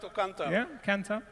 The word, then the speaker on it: Kantar: Yeah, Kantar.